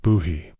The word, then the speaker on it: Bohea: Lavender was a basic Chinese black tea called Boheat, pronounced like buhy, which makes every modern tea all feel like a feverdream of options compared to what the colonists had.